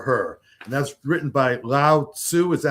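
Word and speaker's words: Lao Tzu: And that's written by Laoo. Is that how it's pronounced? Lasu.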